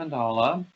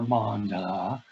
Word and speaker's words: Mandala: Oh, This is Lion Brand Mandala, or mandala, or however you want to pronounce it. It's really mandala.